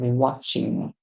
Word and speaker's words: watching: right our next word the T in the word is silent and this morning we had a few words where the T was silent so always watch out